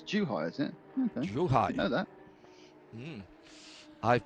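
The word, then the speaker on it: Zhuhai: morning and tomorrow morning how's that the official pronunciation is it apparently it's not zoo height it's too high isn't it know that i've been working hard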